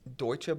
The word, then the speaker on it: Deutsche: Is it Deutsche Bank?